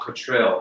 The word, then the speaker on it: Cotterill: Well, Ralph, I guess it's pronounced Ralph Cottrell, I think. Cottrell? Yeah, that's how I heard it as when I was working with him.